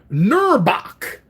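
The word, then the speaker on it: Knurrbauch: have uh we have nurok that's a silent k kerbach k n r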